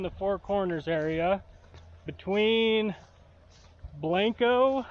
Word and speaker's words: Blanco: four corners area between Blanco is how they say it around here it's really Blanco but they say blanco and Aztec and so